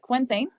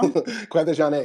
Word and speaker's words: Quvenzhané: Quvenzhané? No, No? Quvenzhané. Quvenzhané.